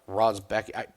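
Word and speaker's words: Rębecki: And I believe his name is pronounced Rozbecki. Every announcer pronounces it different. So if you want to give me shit for how his name is pronounced, fine. I'm going phonetically. Rebecki.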